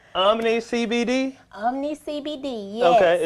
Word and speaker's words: Omne: Yes, it is Omne. It's spelled Omne, and it is an acronym. It means Optimum Medicine is Nature's Elixir.